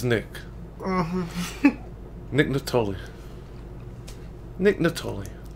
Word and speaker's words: Nittoli: Nick Nittoli. Nick Nittoli. Sounds like it should be a K at the beginning of Nittoli. The K is silent.